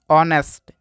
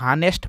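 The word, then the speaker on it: honest: होता है जैसे कि ऑनेस्ट इसको पढ़ते हैं दोस्तों ऑनेस्ट कुछ लोग नेस्ट पढ़ते हैं तो नेस्ट नहीं पढ़ना है यहां पे ए साइलेंट है तो इसको ऑनेस्ट पढ़ते हैं इसको पढ़ते हैं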